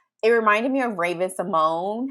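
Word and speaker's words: Symoné: It's Simone." I think is how you say it, and I'm just like, Oh "What?" yeah, Simone. Yeah. So Yeah. it's like, oh shit, I've Yeah. been saying her name wrong this whole time. That's so funny. Yeah. Mm-hmm. The fat accent So on the E.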